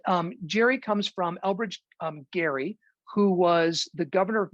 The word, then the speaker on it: Gerry: that's actually it's actually gary it's pronounced the hard g um so uh occasionally